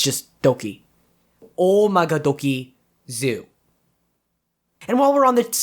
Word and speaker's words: Oumagadoki: the topic real quick it's not owie guys i mean i get not being able to get o magadoki it's hard but i specifically told you that it's three syllables it's not owie it's